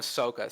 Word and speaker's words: Sokka: how do you pronounce his name then? Sokka.